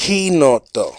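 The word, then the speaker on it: Chinotto: the last 2 minutes, I'm just Chinoto. going to get to it. I'm assuming it's orange. Kinoto. Kinoto. Kinoto, In idiota. Italian, the CH is pronounced like a K.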